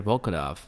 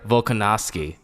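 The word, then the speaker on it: Volkanovski: guys boy uh alexander bolkadov no volcano add more syllables please thank you alexander volkanovsky aka volkov uh hey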